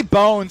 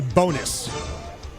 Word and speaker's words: Bones: feels too easy to be a pitcher Ricky Bones is probably like a rock star man this this guy's jam it at Summerfest is it bones or bom it's actually pronounced Ricky bonus bonus oh Ricky Bon that changes thing that